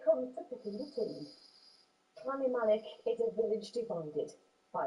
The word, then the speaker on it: Llanymynech: Villagers in that village, it's called Llanymynech, isn't it, will be cheering on both sides, I guess.